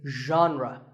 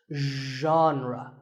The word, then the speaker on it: genre: would you say it the correct pronunciation is genre pay attention to the first sound it's like but you have to put your voice into it genre genre next up is